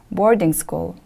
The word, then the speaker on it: boarding school: live and study rip the stress is on the first syllable repeat after me please